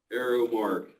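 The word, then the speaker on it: Aero-Mark: were interested but word Arrow Mark Arrow Mark uh it is spelled a e r o dash Mark company LLC City uh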